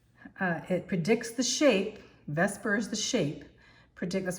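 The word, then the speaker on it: VSEPR: electron pair you have electron pair and repulsion often pronounced Vesper but it's v s e p and so it says let's describe this so um vasper uh it predicts the shape Vesper is the shape predict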